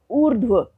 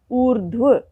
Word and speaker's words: ऊर्ध्व: ऊर्ध्व आप उच्चारण से समझ पा रहे होंगे कि रेफ र लगा तो व के ऊपर है, उससे पहले स्वर रहित ध है और रेफ र का उच्चारण ध से भी पहले हो रहा है, ऊर्ध्व।